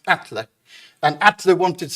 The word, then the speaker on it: Atle: It looks like Atle, but it's pronounced Atle.